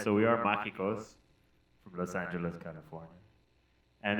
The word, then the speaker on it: Majycos: Am I saying it right? Majycos. Majycos. Damn, dude. Or Sorry. Fuck. Magical. Yeah. Magical. He crosses his eyes.